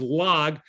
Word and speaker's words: Lag: gimmel which you pronoun which we pronounce as log is called lag ba omer the 33rd